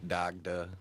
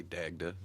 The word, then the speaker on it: Dagda: things on the written i think that might even be my americanized uh pronunciation it might actually be pronounced dagda but uh i say dagda so that's what's up